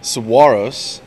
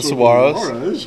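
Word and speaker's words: Saguaros: Tucson player coach Robbie Medell comments on the importance of every game that remains after correcting this video journalist's pronunciation of Tucson's team name. Saguaro's. Tucson Saguaro's.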